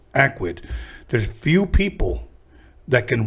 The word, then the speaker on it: Akwid: She gave me the CD, and I saw Akwid, and I remember the way she pronounced it. It's Akwid.